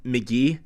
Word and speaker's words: Mk.gee: when I learned that his artist name is actually pronounced McGee funny thing is he